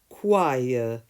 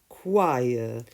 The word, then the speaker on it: choir: singing together it's pronounced choir choir the CH is pronounced in various ways in English as a K in choir character charisma chameleon chemical